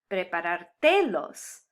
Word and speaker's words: preparártelos: Now this word wants to be pronounced with the emphasis in the default location on the te. Preparártelos.